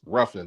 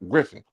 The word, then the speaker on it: Ruffin: It's Ruffin, not Griffin.